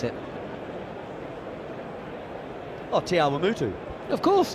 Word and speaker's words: Te Awamutu: Because I can't pronounce it. Oh, Te Awamutu. Of course, Te Awamutu.